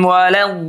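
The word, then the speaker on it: الضالين: Jadi harus disambber dulu dol ya. Disambber bunyinya dihentak, ditekan, ditusuk. Ah ya. Itu namanya nabr. Tuh mirip dengan kata sabar. Jadi dol baru kemudian baca lin. Jangan waladolin.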